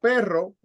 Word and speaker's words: perro: is in the middle but if you have I'll write it here if you have this pero which is but like in the middle but where are you going or if you have perro pero per o yeah you guys can